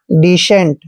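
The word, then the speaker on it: decent: भी सी के बाद ई आता है तो सी का उच्चारण श करते हैं ठीक है और ई को हमने यहां पर एक की मात्रा पढ़ना है और एन का उच्चारण आधा न करते हैं और टी को ट पढ़ते हैं डिसेंट दोस्तों डिसेंट का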